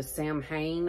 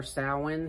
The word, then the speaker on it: Samhain: pumpkin and The Cauldron this is the Samhain or sowin however you want to pronounce it scent in the candle